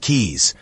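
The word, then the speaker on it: Caius: John Kais, pronounced keys, was no quack or village healer.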